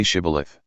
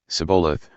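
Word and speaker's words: Shibboleth: he answered no they told him please say shth if he said sioth because he could not pronounce it correctly They seized him and killed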